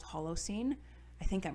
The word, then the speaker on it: Holocene: is the final song on the album called hollow scene i think i'm pronouncing that correctly and it's just a great